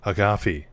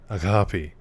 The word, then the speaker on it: Agape: So I think it's Agape. Agape. With like a very light G.